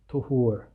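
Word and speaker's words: طُهور: about the word here, a lot of people confuse this word tahur and tuhur with a fatha or a dhamma, so like a short a sound or a short like u sound. So Tahur with the A sound, this indicates the type of water, whereas Tuhur with the U sound is like a verbal noun for purification.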